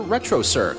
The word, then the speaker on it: Retrocirq: Look for them on YouTube under Retrocirq, spelt with a Q at the end. Retrocirq, where the Q is not quiet.